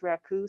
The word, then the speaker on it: Raku: was good yeah plus woo rhymes with Raku so we call it